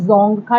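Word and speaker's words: Dzongkha: जोंग खा करके है जोंग खा डी साइलेंट होता है जोंग खा बोलते हैं और श्रीलंका में आप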